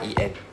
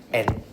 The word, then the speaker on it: 円: So yen we don't say yen in Japanese I know in English we say yen. Okay, the y is actually silent, so we just say n.